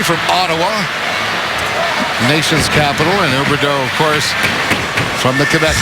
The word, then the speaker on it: Huberdeau: Byron, if I believe correctly, from Ottawa, nation's capital, and Huberdeau, of course, from the Quebec League. You want to get a little feistiness. Huberdeau, as it would be pronounced in French, been sitting on the